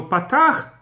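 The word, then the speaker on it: פתח: So Patach, everybody pronounces as A. But Kamatz, the Ashkenazim pronounce it as O, or something close to it, and the Sephardim pronounce it as A.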